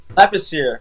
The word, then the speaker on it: Lepicier: last name correct man lepacelle how do you say your last name lapis here it's kind of ironic I'm American but it's French Canadian okay okay so where's